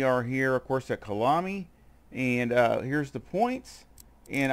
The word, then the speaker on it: Kyalami: So excuse my pronunciation of it. It's Kyalami.